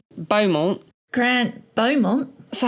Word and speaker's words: Beaumont: I don't know how to pronounce this because in French it's Beaumont, but in Australian it's Beaumont. I can't do an Australian accent. Beaumont. Grant Beaumont.